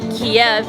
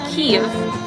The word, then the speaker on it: Kyiv: So obviously Kiev in the Russian way is Kyiv in Ukrainian.